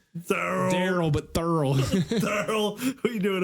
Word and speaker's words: Thurl: Thurl. It's like Daryl, but Thurl.